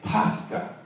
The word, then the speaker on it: Pascha: It's Pascha. It's Pascha. P-A-S-C-H-A.